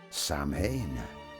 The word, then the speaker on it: Samhain: Samhain Over 2,000 years ago in the misty hills of ancient Ireland and Scotland, the Celtic people marked the end of the harvest with a great fire festival. Samhain, pronounced Sow-in, was not merely a celebration.